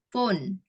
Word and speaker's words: phone: Ada P sama H, itu bacanya F ya.